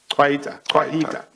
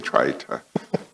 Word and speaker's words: Kwaita: Twaita, not Twaita. Kwaita. Yeah. Kwaita. Yeah, no, I think I've been saying Twaita, and I'm embarrassed that